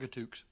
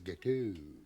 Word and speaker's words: gâteau: Chocolate gatooks. I'm sorry. I mean, I don't mean to make you look like an idiot or anything, but I think you'll find it's gâteau.